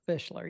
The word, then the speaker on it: Fishler: that's happening in uh Phil fitler fisler is that the way you pronounce his name yeah Phil Fishler yep Fishler he he's he's also